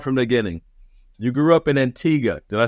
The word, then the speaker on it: Antigua: start from the beginning you grew up in Antiga did I say it right you said it